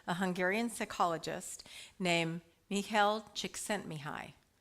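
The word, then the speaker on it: Csíkszentmihályi: Hungarian psychologist named Mel chent mihi 16 letters four syllables I am not spelling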